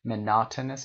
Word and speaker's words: monotonous: دقت داشته باشید monotonous استرس روی نه هست، تلفظش monotonous و repetitive.